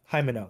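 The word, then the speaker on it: Himeno: it ate um uh what's your name uh homino is how do you pronounce her name and my hold on let me check hymenau hi minnow that's what her name is Jaime with the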